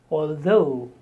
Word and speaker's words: although: The stress on the second syllable, although.